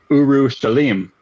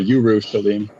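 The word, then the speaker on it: Urushalim: the city called uh Uru Shalim. Um which means so Uru Shalim uh well it's actually Yuru. It would be pronounced with a Y. Yuru Shaleim.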